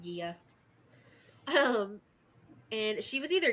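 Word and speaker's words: Gaia: Gia or Mother Earth that one I did look up it's pronounced Gia um and she was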